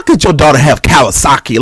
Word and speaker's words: Kawasaki: It sounds like the motorcycle Kawasaki.